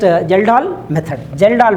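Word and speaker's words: Kjeldahl: Okay, K is silent. Just Geldahl method.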